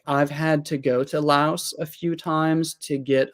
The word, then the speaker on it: Laos: Thailand and you mentioned Laos is the language that they speak in Laos called Lao yeah um they don't pronounce the S on the end interesting okay so how